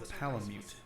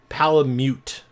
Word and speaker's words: Palamute: Canine buddy known as a palamute. Palamute. Apparently, I thought it was Palamute. So apparently, I was saying it wrong.